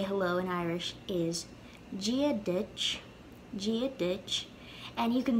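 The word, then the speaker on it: Dia duit: common way to say hello and irish is gia ditch gia ditch and you can see it written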